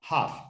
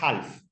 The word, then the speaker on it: half: por la mitad 30 esa l no se pronuncia es una l muda Silent letter hof la de have no es Half hoff la l no se dice Vale entonces si me